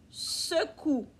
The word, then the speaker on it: secoues: Et tu te secoues. On ne prononce pas le S aussi.